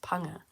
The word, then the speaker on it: ponga: uh it's interesting because it's spelt ponger but it's supposed to be pronounced panga panga yeah that sounds about